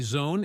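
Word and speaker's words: Xone: One of the most interesting and well-reed introlevel DJ mixers is the Allen and Heath Zone 232 channel mixer. FYI Zone is pronounced like zone.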